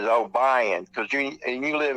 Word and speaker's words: Obion: And it's O B I E N is Obion. Cuz you And you live in the South, it's pronounced that way, you know.